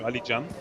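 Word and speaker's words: Alican: also from Turkey spelling Ali Jan Ali oh the C is pronounced as a j yeah J really yeah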